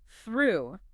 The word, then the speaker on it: through: To master this, focus on quickly moving your tongue from the forward the position between teeth back to the bunched up R position inside the mouth.